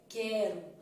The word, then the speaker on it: quero: que esticada ó que quero então quero o u não foi pronunciado logo Ele formou o quê